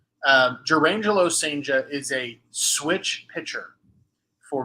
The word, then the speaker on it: Cijntje: You may have seen his name written and not know who I'm talking about because his last name is spelledCijntje. That is pronounced Senja. Jurangelo Senja is a switch pitcher for Mississippi State.